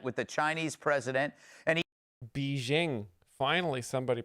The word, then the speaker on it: Beijing: So this week, President Trump arrived in Beijing for a summit with the Chinese president, and Beijing. Finally, somebody pronouncing it correctly.